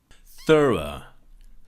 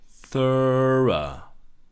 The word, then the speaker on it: thorough: Thorough. Thorough. Thorough. So it's similar to think and thought and through, in that thorough has the TH, thorough, and the GH is silent.